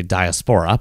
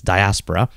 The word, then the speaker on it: diaspora: wrong by the way I usually say diaspora but now I'm learning it's diaspora the place where these